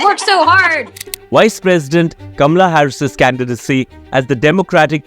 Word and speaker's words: Kamala: we are talking about camela Harris or kamla Harris as we pronounce it in India yes please okay cuz